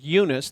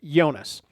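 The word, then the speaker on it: Yunus: there were several uh they didn't pronounce it eunice they pronounced it jonas uh and what i found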